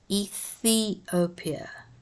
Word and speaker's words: Ethiopia: Ethiopia, say the th.